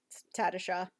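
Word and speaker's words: Tatasciore: Tatasha. Really? That's how you pronounce it? It's Tatasha.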